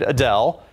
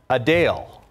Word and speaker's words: Adele: While many pronounce it like I just did, Adele, the singer says it's actually Adele.